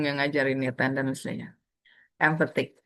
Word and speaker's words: empathic: Berarti stresnya di back. Kebanyakan emang kalau belakangnya IC itu stresnya di kedua sebelum IC-nya itu. Empathic. Fanatic. Gitu. Oke, kita lanjut ke skill ya. Empathic.